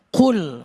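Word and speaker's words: قل: qul katakanlah hati-hati kalau qul ini harus makhrajnya pronunciationnya harus bagus qul qul Betul. Karena kalau enggak bagus, qul artinya makanlah.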